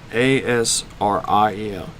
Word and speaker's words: Asriel: It is spelled A-S-R-I-E-L, Asriel.